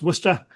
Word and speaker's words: Worcester: Uh, it's pronounced Worcester.